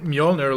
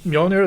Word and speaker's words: Mjolnir: the j is pronounced as a soft sound instead of like with a d in front of it like english doesn't and that's why mjolnir looks so weird to